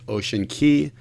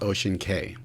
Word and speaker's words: Ocean Cay: And quick note, it's actually pronounced Ocean Cay, not Ocean Cay.